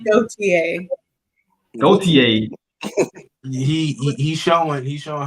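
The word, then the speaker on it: Gotye: what I'm talking about it's pronounced go gotier he's showing he's showing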